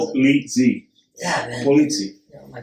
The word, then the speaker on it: Polizzi: No, did I say it like Italian? You said like you just came off the boat. Can you? You say it. Say it for me real quick. Polizzi.